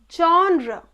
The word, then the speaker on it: genre: But the appropriate pronunciation is genre, genre.